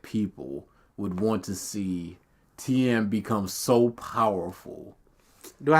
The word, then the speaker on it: Tien: I just want to see his 100 witch. And Ten agrees. He couldn't hope to have faced Frieza before. It's not 10, it's Tien. Maybe in Japanese it's 10.